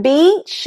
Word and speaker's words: beach: Now, when you do this, instead of getting the word beach, you get the word, that's right, shall I say it? Bitch.